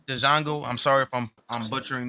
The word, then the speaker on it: Django: Yeah, that shit funny as hell, It's especially not the Leonardo Django. DiCaprio. Django, man. Didn't Period. you It's see when he Django. when he popped homeboy and said the D is silent?